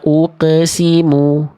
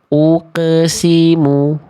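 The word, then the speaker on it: أقسم: Beda antara uqe dengan uqo. Ya. Kalau dibacanya uqe nanti sama kayak huruf ba jim dal. Ba jim dal adalah huruf qalqalah yang karakternya tipis. Makanya dibacanya kan ab, aj, ade. Ya enggak? Karena mereka tipis, teman-teman. Karena mereka tipis. Kalau qaf nggak dibaca ake.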